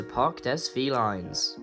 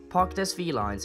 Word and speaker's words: Parc des Félins: welcome to Park Des V lines pronounced in French Park DEA Park Des V lines is a huge and beautiful Zoo specializing in